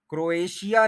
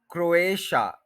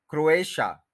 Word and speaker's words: Croatia: वही गलती करते हैं क्रोएशिया नहीं है क्रोएशिया यानी शा सीधा बोलना है क्रोएशिया यह जो आप लोग